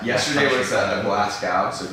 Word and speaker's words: Glasgow: GLA. Go, right? GOW. Yeah. Glasgow. Oh, I'm saying gal, not go.